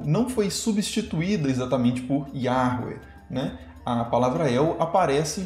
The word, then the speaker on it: Yahweh: E quanto à pronúncia, a reconstituição assim, atual é mais ou menos essa, né? Yahweh, mas não dá para ter certeza justamente porque como esse nome foi tão evitado e foi sumindo aos poucos da linguagem oral, a pronúncia foi perdida, assim, né?